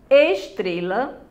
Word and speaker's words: estrela: Estrela, estrela. Você diz o quê? Estrela. Onde é que tá a sílaba forte? Bem no meio aí, não é? Tre, circulou.